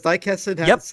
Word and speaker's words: Daikessen: Because Daikessen has like special FMVs or cutscenes that are directed shot for shot taken from the original manga.